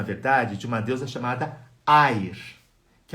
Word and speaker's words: Eir: nome dela, se escreve E-I-R. Eu estou escrevendo de baixo para cima, tá? E-I-R. Air em alemão, Eir em línguas escandinavas.